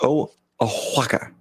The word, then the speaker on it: Oaxaca: By the way, it's pronounced Oaxaca.